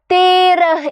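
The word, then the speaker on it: तेरह: അടുത്ത ആള് 13 ആണല്ലേ 13 ന് നമ്മൾ തേർഹ് എന്നാണ് പറയുന്നത് മിസ് മലയാളത്തിൽ എഴുതാവേ നോക്കിക്കേ തേര എന്നാണ് പറയുന്നത് ത ഇട്ടു അതിൻറെ കൂടെ എ എന്ന് പറയുന്ന ചിഹ്നം ഇടുകയാണ് അല്ലേ എന്താണ് എ എന്നുള്ള ആ ഉച്ചാരണമുള്ള ചിഹ്നം ഇട്ടു കൊടുക്കുകയാണ് തേരഹ് എന്നാണ് വായിക്കുന്നത് 13ന് തേറഹ് എന്നാണ് പറയുന്നത് ഓക്കേ 14ന് എന്താ പറയുന്നത് ചൗദഹ്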